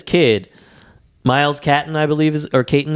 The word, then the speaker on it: Caton: This kid, Miles Caton, I believe, Caton is the way I believe you say his name.